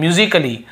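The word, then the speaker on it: musically: म्यूजिकली ऐसे बोलते हैं म्यूजिकली तो यहां पर भी देखिए आप म्यूजिकली तो यहां पे ए का उच्चारण नहीं हो रहा है और देखिए लास्ट में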